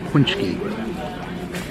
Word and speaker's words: paczki: That is a good paczki. That's how you say it. Paczki.